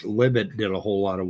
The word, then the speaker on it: Libet: talking about uh libit uh or you would pronounce it as libet but the right way to pronounce it is libit l-i-b-e-t uh anyway yeah it's a philosophical concept